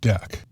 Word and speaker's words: deque: called a deck it's spelled dqe and it's pronounced deck it's Unique in a few ways not to